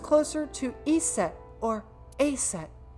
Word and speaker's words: Aset: named isus but in egyp ancient Egyptian it's pronounced closer to EET or aset H how do I explain this I told